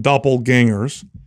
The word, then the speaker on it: doppelganger: So doppelgangers, right? That's the term for it. When somebody, doppelganger, did I say it right? Ganger. Yeah. Ganger or danger? Ganger. Doppelganger. Put the gang in there.